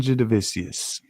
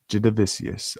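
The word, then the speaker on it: Jasudavicius: This next one we got Jessica Andra versus Jasmine Jedivicius. Jedivicius. I think I nailed that pronunciation for once, which is pretty pretty rare. I get the pronunciation of a fighter's name correct. But cool action figures, man.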